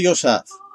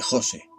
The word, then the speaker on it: Jose: o debería de llamarte yosa pronunció mi nombre sin el acento ortográfico y s el prosódico en la o de Jose Como así me llaman